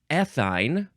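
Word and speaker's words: ethyne: now we have um ethine or aine emphasize either syllable e t h y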